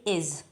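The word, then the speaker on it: is: पर देखना है कि आई एस इज प्रोनाउंस है इसको हम इज नहीं पढ़ेंगे यहां पर जा के नीचे एक बिंदी है इसलिए हम इसे पढ़ेंगे इज हमें इसे इज पढ़ना है इज इज नहीं पढ़ना इसे हम इज पढ़ेंगे और इसका हिंदी मीनिंग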